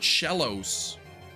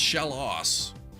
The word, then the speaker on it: Shellos: Keep wanting to call it Shellos. I learned that it's pronounced shallow.